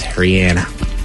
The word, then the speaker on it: Rihanna: He was called a Rihanna, and I corrected him, and then she was like, no, it is Rihanna. It actually is Rihanna.